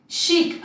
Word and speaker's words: chic: chic, again guys ये चिक नहीं है, chic है.